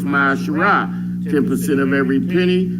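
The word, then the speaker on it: מעשר: means tiffany hebrew and it's pronounced my shirai ten percent of every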